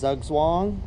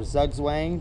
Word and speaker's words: zugzwang: circle with a dot that is hugs long or zugzwang depending on how you pronounce it that's Mae or checkmate